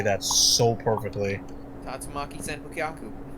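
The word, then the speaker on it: 竜巻旋風脚: Oh, you say it like that. Alright, fine, make me feel like an idiot. I say it like how they say it in the game, which was Tatsumaki Tsubuken.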